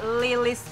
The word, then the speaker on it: L12ES: Betul, tapi bacanya Lilis, Lilis.